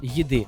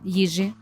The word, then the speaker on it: їжі: їжі чи під час їди не можна розмовляти під час їжі їжі їди бо їжа це страва